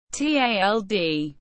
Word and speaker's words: tjaldur: For this reason, the tjaldur, pronounced tald, is recognized as the national bird of the Faroes.